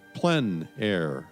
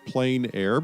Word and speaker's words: plein air: The French pronounce it plein air. Others pronounce it plein air, but no matter what